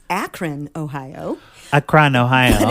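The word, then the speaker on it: Akron: It's Akran, Ohio. Acron, Ohio. In Canadian they say Acron like it's space.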